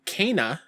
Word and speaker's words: Kena: Yep, I got to play an hour of, and I learned because of the gameplay demo, it's pronounced Kena, Bridge of Spirits.